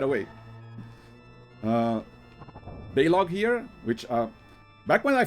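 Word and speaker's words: Baleog: kid, I would always call him Baliog. But I think I heard a trailer of them in the Heroes of the Storm DLC where Eric called him Balog. So I'm assuming that's the correct pronunciation.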